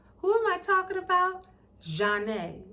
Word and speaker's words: Zhané: Zhané, pronounced Zhané.